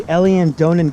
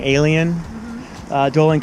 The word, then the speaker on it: Eilean Donan: Here at the Eilean Donan Castle. I pronounced it wrong. Eilean Donan Castle in the Highlands in Scotland, and we're on our way to Stornoway.